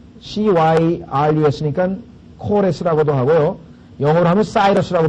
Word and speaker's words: Cyrus: 영어로 하면 사이러스라고 발음을 합니다. 왜냐하면 C자가 이게 라틴어에서는 K 발음을 하지만 영어에서는 C 발음을 하거든요.